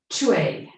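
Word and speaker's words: chaw: So it's like you pronounce it C-H-A-W, chue, chue. Okay, so you can say that sound out loud, or you can just whisper it to yourself.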